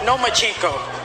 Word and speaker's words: Lomachenko: I think you said his name wrong. It's Lomachenko, because he doesn't want to fight me.